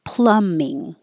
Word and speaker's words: plumbing: f clairvoyance clairvoyance and you see the B but you don't hear the B at all it just disappears so Plumbing and plumber and the